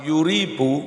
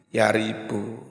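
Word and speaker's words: يريب: Lafat yuribu bacanya boleh yuribu, boleh yaribu.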